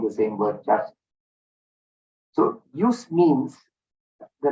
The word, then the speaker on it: jus: The word JUS, JUS, pronounced as use, perhaps one of the